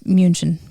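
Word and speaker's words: München: munich or in german you don't call munich munich it's munchen munchen munchen does it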